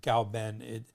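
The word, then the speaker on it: 藁本: Now everyone's settled on pinyin, but in Wade Giles, K is pronounced with a G. So Gao-ben, even though it's spelled K-A-O, it's still pronounced Gao Ben.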